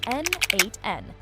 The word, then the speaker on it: n8n: The first is NADEN pronounced N8.